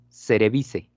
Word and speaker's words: cerevisiae: Ahora, otra cosa es, cuando vean terminación IAE, no se pronuncia ni la I ni la A, solamente la E. Entonces aquí es cerevice, ¿no? Sin ningún problema. Entonces, Saccharomyces cerevisiae, así, aunque ustedes vean la terminación IAE.